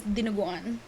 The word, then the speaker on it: dinuguan: I always ask them to make it, is dinuguan.